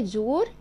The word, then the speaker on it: jours: كلمه جور هي ايام وسمين هو الاسبوع، يبقى لي ده الارتيكل ديفيني، جور جور جور الفونيتيك او و او ما ننساهوش او، تمام؟ والاس اللي ما بتتنطقش عشان ده بلوريال.